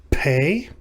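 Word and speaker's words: פ: more second all right this is the letter pay this is this makes the sound of the english letter p in the word pay or pop or puddle etc this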